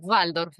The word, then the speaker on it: Waldorf: ¿Se pronuncia así? Sí. Sí, Waldorf en realidad, porque la B corta en alemán, ¿viste?